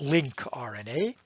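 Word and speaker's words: lincRNA: as link rna and link actually just stands for long non-coding but you pronounce it linc rna and so one type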